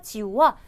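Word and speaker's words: 九: 이 지우와 숫자 지우와 하오 지우 할 때 그 지우가 발음이 같아서.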